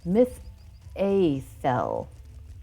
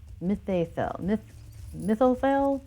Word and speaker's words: Mitheithel: The consensus is currently Mitheithel. Mitheithel.